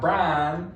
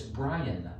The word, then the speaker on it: Brian: She goes, yeah, it's not Brian, it's Brian. It's 2 syllables, not 1.